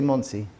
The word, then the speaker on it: Monsey: How do you say Monsey?